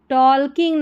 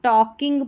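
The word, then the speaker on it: talking: And started started टॉल्किंग नहीं इसको टॉकिंग पढ़ना है।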